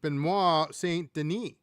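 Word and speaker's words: Benoît Saint-Denis: The American uh Benil Deouch taking on Benois St. Deni. Uh, I think the S is silent in France.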